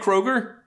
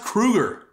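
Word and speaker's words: Kroeger: them did you know his name's not even Chad Kroger it's pronounced Krueger why don't you say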